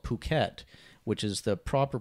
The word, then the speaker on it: Phuket: I think I think there's certain places in Thailand where P's and F's yeah are used a bit differently so there's a place called Phuket which is the proper